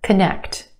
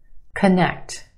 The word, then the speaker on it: connect: One more, connect, connect. Two syllables, emphasis where? On the second syllable, the sound, connect. First syllable becomes the schwa, k, k. Very quick, unemphasized, schwa sound, k, k.